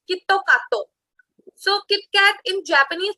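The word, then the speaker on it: キットカット: And its pronunciation in Japanese is Kitto Kato. So Kit Kat in Japanese pronunciation or in Japanese accent, we call it as Kitto Kato, which is similar to Japanese word Kitto Katsu.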